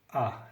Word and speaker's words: as: Tu as. Le S ne se prononce pas.